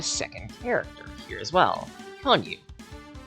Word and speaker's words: Konyu: And we also gain access to a second character here as well, Konyu. Yes, that's the canon pronunciation.